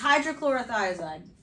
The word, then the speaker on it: hydrochlorothiazide: All right, so does anybody want to take a stab at how to pronounce this? The hydrochloride. Yeah, it's hydrochlorothiazide.